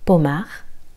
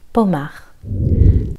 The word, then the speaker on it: Pommard: Pommard. Le D est silencieux. Pommard.